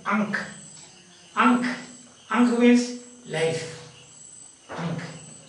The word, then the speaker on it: ankh: And this one of the alphabet, is pronounced ankh.